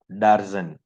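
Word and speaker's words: Darzens: इस रिएक्शन का नाम है डार्जन रिएक्शन, डार्जन। कई लोग जेडीएन करते हैं, कई लोग जेडएन करते हैं, डार्जन करते हैं, कई डार्जन है, प्रोनाउंसिएशन इसका डार्जन है, डार्जन रिएक्शन।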